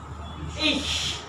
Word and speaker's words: ich: So ich have it in the word ich.